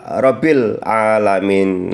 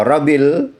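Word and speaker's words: رَبِّ الْعَالَمِينَ: Tidak boleh rabbil rabbil alamin. Nah, kalau rabil itu berarti tidak ditekankan atau tidak di tasdidkan. Jadi membacanya harus rabbil alamin. Tasdidnya berada di atas huruf ba.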